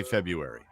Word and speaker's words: February: halfway past uh February do you pronounce the r in February or do you say February February you say February with the r in there I that's the way I think you're supposed to say I don't know I